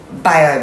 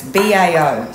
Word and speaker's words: bao: going to make the the dough for the Bob buns I don't know how to pronounce that it's Bao so it says to use 250 g of